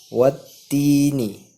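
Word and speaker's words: وَالتِّينِ: Wattini yang artinya demi buat tin. Kita membacanya yaitu harus pada ta kita harus tekan. Wattini. Kenapa ditekan? Karena di atas huruf ta ada tanda siddah.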